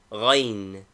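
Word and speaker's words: غ: Name, Ghain. Equivalent, GH. Pronunciation, a guttural sound, something like the French R, Grasseye.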